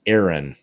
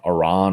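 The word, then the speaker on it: Arran: there okay so peter it's pronounced aaron okay that's good that's easier than iran or whatever aaron is a scotch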